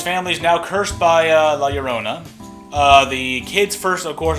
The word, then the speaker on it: La Llorona: pronouncing her name right, La Llorona, so double L, so it makes Y sound or something.